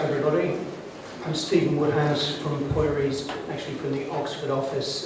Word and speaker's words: Pöyry: Pöyry, as the Finnish parent would pronounce it, is an engineering consultancy, but I live in the management consulting world.